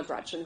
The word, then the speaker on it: Gretch: named after my grandma Gretchen, who I adore. It's funny, though, because she always said, never let anyone shorten your name. Don't let people call you Gretch because it rhymes with wretch.